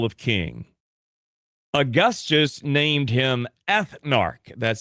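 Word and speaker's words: Ethnarch: Augustus named him Ethnar. That's spelled E T H N A R C H.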